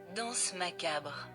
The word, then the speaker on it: danse macabre: Okay, how do I pronounce it? Danse macabre.